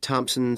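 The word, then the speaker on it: Thomson: Is that Thompson spelled with a P?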